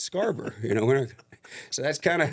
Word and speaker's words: Scharbauer: And outside of Midland, if I make a dinner reservation, I say Scharbauer, and they never misspell it. Really? But in Midland, it's misspelled all the time because we say Scarborough. It's the Texas way of saying it.